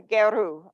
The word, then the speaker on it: Gero: Okay, Geru, okay.